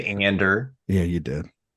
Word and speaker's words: Andor: Andor. I didn't say Andor. Yeah, you did. No, I said it more like Stellan Skarsgård says it, which is just flat. Just Andor, not Andor, or Andor and not Andor.